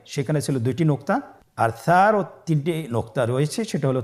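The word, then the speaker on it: ث: মাখরাজ হলো উচ্চারণ স্থান জিহ্বার আগা সামনের উপরের দুই দাঁতের আগার সঙ্গে লাগিয়ে উচ্চারিত হয়।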